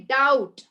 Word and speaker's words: doubt: debt okay and you also say doubt right ma'am I have a doubt do you say dou DB have you heard anybody saying dou no B goes silent so it's doubt okay and also subtle